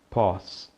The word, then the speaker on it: pause: Notaram aí a palavra pausa? A pronúncia então é pause.